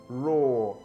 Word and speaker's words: roar: And then you have this word roar, which is also pronounced the same way as this.